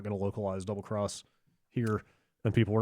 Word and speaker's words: Double Cross: He asked, he was surprised to find out that Monster Hunter, is it pronounced Double Cross, Yeah.